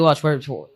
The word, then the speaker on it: Welch: You say Welsh or Welch. Welch? Welch. Welch. WELTCH. Welch. No, it's just WELCH.